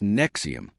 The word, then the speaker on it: NXIVM: It was called Nixim, pronounced Nexium.